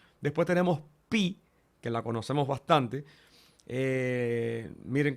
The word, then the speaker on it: pi: Después tenemos pi, que la conocemos bastante. Miren cómo se escribe y suena como la P en para.